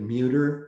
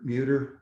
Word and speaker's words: Muerdter: that beach so again my name is meuter and even though i don't spell it the way it rhymes with computer muter computer okay so let's get